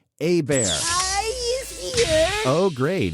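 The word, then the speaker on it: Hebert: spelled Herbert it's h-e-b-e-r-t it's Louisiana Cajun French a bear yeah oh great it's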